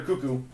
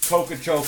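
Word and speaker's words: Koekkoek: I know it's pronounced Slater Cuckoo.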